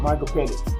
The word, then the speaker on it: Michael Penix: How you pronounce his last name? Michael Penix.